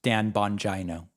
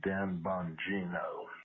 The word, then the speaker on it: Bongino: material right i know his name is not pronounced dan bongino his name is actually dan bongino thank you sir for letting me know what